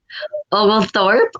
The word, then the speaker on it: Oglethorpe: Oglethorpe.